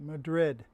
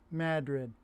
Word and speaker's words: Madrid: The rest of the world pronounces it Madrid, but up in the North Country, they pronounce it Madrid.